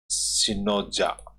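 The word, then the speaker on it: Spinoza: These words of Dutch philosopher ब्रूच सिनोजा, इसमें P silent रहेगा, या तो इसको पिनोजा कहेंगे या सिनोजा कहेंगे इसको।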